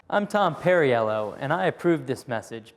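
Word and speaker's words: Perriello: Uh, Pernelloo. I'm Tom Perryello and I approve this message because how you pronounce instead we tend to work on the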